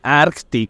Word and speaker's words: Arctic: hay que diferenciar Acá tengo la Arctic 250 Arctic Esa es la pronunciación Y esa tiene un r de 17